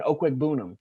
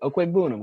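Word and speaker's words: Okwuegbunam: he's like, oh yeah, that's actually pronounced Devin Okwegbunam. That's how you pronounce it. I'm like, oh, thank you, Okwegbunam.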